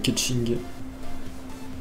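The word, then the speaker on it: Keqing: Keking apparemment, qui se prononce Ketching.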